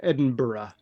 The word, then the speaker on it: Edinburgh: like sorry double the the city there is pronounced Edinburgh oh Edinburgh wellow yeah I think we may